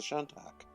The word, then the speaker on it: Shantak: David was pretty much on the money. It's a Shantak.